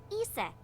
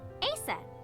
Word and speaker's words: Isis: Horus's mom is named Isis, but in ancient Egyptian, it's pronounced closer to Iset or Aset.